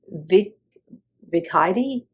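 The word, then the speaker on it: Vickeidy: her name for I wasn't sure how to pronounce the first one's name and that's Vic viid it's Vic VI c k EI d y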